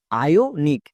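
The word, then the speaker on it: ionic: সি এর জন্য কি করবো নিক তাহলে একসঙ্গে উচ্চারণ করো আয়ো নিক আমাদের মনে রাখতে হবে শব্দের একদম শুরুতে যদি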